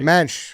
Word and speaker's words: Muench: It's Mench, but that's all right. Mench. Everyone says Munch.